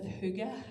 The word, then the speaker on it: hygge: And I really love, if you've ever come across the Danish concept of hygge, as it's pronounced, and it's really an opportunity to get